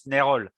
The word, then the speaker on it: Nayrolles: I'm not sure how to say it in English, but in French it's Nayrolles. How do we say it in English, Patrick? Whatever they want. Whatever you want. Nayrolles is, as you said, the traditional French way, but I'm used to